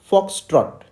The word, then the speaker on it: foxtrot: o t dot so what how do we pronounce this foxtrot foxtrot foxtrot okay so you have to emphasize